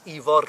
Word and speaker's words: Ifor: His name is Ifor Bach. Ifor Bach, little Ifor, and that's Ifor with a rolled R, by the way.